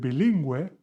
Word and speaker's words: bilingüe: And this indicates that we need to pronounce this U. So with bloguero, we do not say bloguero. This U is not pronounced. But with bilingüe, we do pronounce the U.